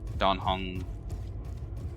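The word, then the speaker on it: Dan Heng: Only reason I know is because there's a character in Hong Kongai Star Rail named Dan Hen and it's pronounced Don Hung.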